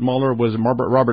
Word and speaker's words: Mueller: Perhaps even more importantly, Robert Mueller that's how he pronounces his name, was in charge of the investigation into Pan Am 103, the downing of Pan Am 103.